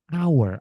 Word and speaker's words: hour: Hour.